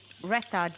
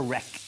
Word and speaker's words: raita: you have this lovely raita dish there. Oh, put that back in. Just get the pronunciation. Is it raita or rec? Raita. Raita. Oh, raita.